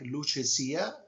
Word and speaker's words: Lucia: Uh you know it basically is is an Italian word and it sounds like luchia.